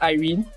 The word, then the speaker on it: Irene: english name first because in english we just pronounce it as irene it's a proper english name so let's just say